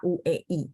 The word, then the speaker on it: hui: ya UI bacanya ya jadi hue dibaca huei tapi tulisnya tetap hui Oke Huang hui Mei